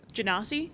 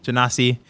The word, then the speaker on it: Genasi: Genasi? Genasi.